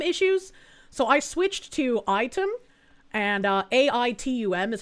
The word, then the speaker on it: Aitum: Item, no, I'm not pronouncing it item, and I'm saying Item because it's AITUM.